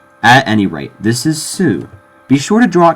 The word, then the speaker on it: す: by a consonantal sound many times the U is kind of dropped leaving a bit of a pause in the word this isn't necessary but it is common especially with Sue it's almost always pronounced